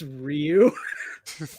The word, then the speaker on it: Ryu: I think his name is pronounced Ryu. It's Ryu.